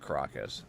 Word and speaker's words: Caracas: See, or is it Caracas? I'm pretty sure it's pronounced Caracas. I could be wrong. So yeah, so we got Valencia Comic-Con, Sakai Manga, Caracas. Yeah, I was right, Caracas.